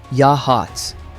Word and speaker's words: Yachats: or solve a murder mystery, you go to Yachats. Pronounced "Yahots".